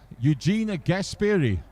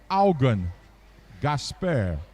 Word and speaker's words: Eugene Gasperi: Eugene Gasperi. The pronunciation is Augen Gasper.